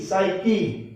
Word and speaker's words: psyche: ये होगा PSYCHE, साइकी, इसमें P साइलेंट रहेगा।